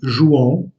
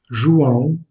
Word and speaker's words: João: Jean en portugais est João. João.